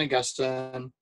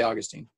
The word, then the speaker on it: Augustine: augustine oh i just i don't know how to pronounce that august day i'll say augustine america i say augustine yeah yeah um august i just i sometimes trip up and say gustin um in augustine he